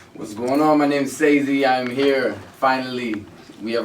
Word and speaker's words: Sese: I've been calling you Cease for like 3 weeks. Cause you know what is the way it's spelled, it doesn't look like Sese, right?